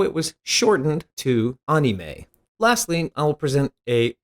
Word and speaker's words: anime: pokit furthering this point let's look at anime versus anime once more a borrowed word in that word is animation first remember that a vowel sound ah second it's obvious